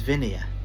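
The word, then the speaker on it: Vinea: It's not vine. It's vineia. Vineia drink.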